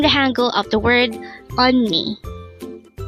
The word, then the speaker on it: 언니: on me only this composed of two syllables the first little voice on and the